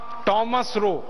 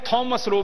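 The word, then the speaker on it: Thomas Roe: था उसका नाम था टॉमस रो अंग्रेज उसको टॉमस रो भी कहते हैं थॉमस रो भी कहते हैं दोनों उच्चारण उसके नाम के हैं तो थॉमस रो पहला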